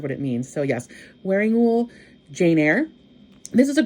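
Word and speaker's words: Wearingeul: Wearing Ghoul is pronounced that way. It's wearing, like wearing clothing, and ghoul, like a ghoul, but not like that.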